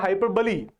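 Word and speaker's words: hyperbole: है ना, बट उसको बोलता था मैं हाइपरबोल। मुझे एक स्टूडेंट ने कहा, है ना, कि सर इट इज हाइपरबली। मैंने कहा ठीक है मैं चेक करता हूं, आई चेक्ड इट, यस।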